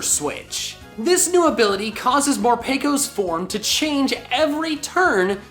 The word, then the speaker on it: Morpeko: In all seriousness, it's probably actually pronounced Morpeko, since Peko comes from the Japanese word harapeko, which means hungry.